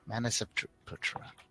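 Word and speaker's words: Manasaputra: Oh, God, I don't know how to pronounce that. Manaseputra. Yeah, Manaseputra.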